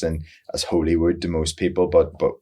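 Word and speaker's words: Holywood: It's it's it would be pronounced in as Hollywood to most people, but but over there it's pronounced Hollywood like the same as in the USA, but um I grew up a little town there.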